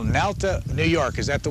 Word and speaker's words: Malta: Next call, Malta, New York. Is that the way to pronounce it? No, it's pronounced Malta.